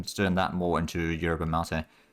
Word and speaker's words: yerba mate: Or yerba leaves, we can turn that more into yerba mate. I keep calling it mate, but I think mate is probably the more correct pronunciation there.